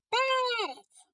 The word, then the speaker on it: Перець: Перець. Наголошений е.